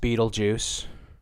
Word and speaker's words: Betelgeuse: and the sky Betelgeuse which yes is pronounced Betelgeuse has been dimming more